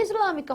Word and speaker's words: islâmica: E islâmica, Rose? Nossa, que questão mais fácil, né? Islâmica. Olha a separação. Tonicidade. Lã. Não é assim? Última, penúltima, antepenúltima sílaba também recai aqui na ideia das proparoxítonas.